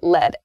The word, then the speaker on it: lead: talk about the noun the noun form is pronounced lead lead so the noun form